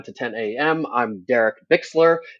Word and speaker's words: Bixler: I'm Derek Bixler. That's Bicks, not Bix.